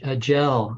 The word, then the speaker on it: Jel: Jel, I think is the way her name is pronounced.